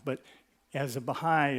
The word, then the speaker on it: Baháʼí: with a a u sound but as a Baha'i it's Baja Ola just just so you know if in case